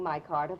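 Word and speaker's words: Micarta: smartest decorators are using my carter for furniture in modern homes remember it's spelled m-i-c-a-r-t-a insist on furniture topped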